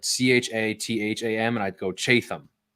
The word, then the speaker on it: Chatham: over again so like in in Savannah it's Chatham County but it's like c-h-a-t-h-a-m and I'd go chase them and they're going